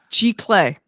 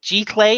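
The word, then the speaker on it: giclée: G-Clay. Okay, G-Clay. Is that how you pronounce it?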